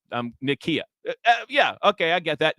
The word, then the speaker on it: Nykia: Wright Nikia right okay so that's how you pronounce her name um Nikia yeah okay I get that Nikia CEO of